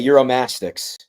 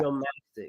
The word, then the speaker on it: Uromastyx: I don't even know how to pronounce it. Heuristics? It's okay. Uromastyx. Yeah. Uromastyx.